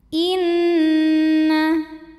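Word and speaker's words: إِنَّ: Cara bacanya gunnah atau dengung. Jadi bunyi N-nya tahan sampai ada getaran masuk hidung, kurang lebih 2 harokat.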